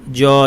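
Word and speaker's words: ج: কিন্তু আরবি বিশুদ্ধ জিম উচ্চারণের সময় কোনো বাতাস থাকবে না, কেননা আরবি বিশুদ্ধ জিম জাহর বৈশিষ্ট্য সম্পন্ন। আজ, জা, জু, আল জিবাল, বাতাস ছাড়া আমাদেরকে বলতে হবে।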